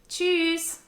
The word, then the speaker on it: Tschüss: Tschüss, which simply means bye. Germans like to change up the intonation here to an upward sound.